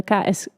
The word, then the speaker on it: KASK: She holds a master's in fine art from the KASK, that's how I should pronounce it, School of Art in Ghent, where she was nominated for the Start Point Prize in Break.